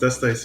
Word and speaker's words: Dustice: Yeah, so my name is Dust Ice, but I guess now I'm more known as Dustis, and I used to care that it's pronounced Dust Ice a few years back, but now it's kind of, it's Dustis anyway.